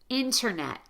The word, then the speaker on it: internet: When you have the letters NT together between vowels in a single word, pronounce the T as a true T.